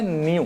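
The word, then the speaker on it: ν: इसको थोड़ा याद रख इसको पढ़ा जाता है न्यू क्या पढ़ते हैं बताओ य स्पेलिंग है एनई डब् नहीं न्यू ग्रीक लेटर है ये एक तरीके का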